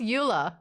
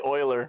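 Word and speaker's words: Euler: was a good game what's Ula oh no what's Ula Oiler it's actually Oiler no why what is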